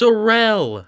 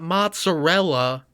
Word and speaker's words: mozzarella: it's pronounced I can't do this. mozzarella, not mozzarella.